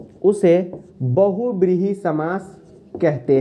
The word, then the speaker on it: बहुव्रीहि: ठीक है बहुव्रीहि समस कभी-कभी कुछ लोग उच्चारण में बोल देते हैं हम सब भी बोल देते हैं लेकिन बोलचाल में कुछ लोग बहु बीवी बोलते हैं कोई दिक्कत नहीं जो